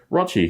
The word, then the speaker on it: Rochi: Rochi, whose name rhymes with crotch, still ongoing with the lead pile.